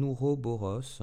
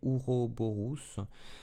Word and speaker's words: Ouroboros: Le symbole du 8 nous rappelle peut-être un Ouroboros. Alors moi je le prononce comme ça, je ne sais pas trop comment ça se prononce. À la latine c'est Ouroborus.